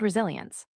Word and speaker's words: resilience: Resilience, resilience, emphasize the ZI.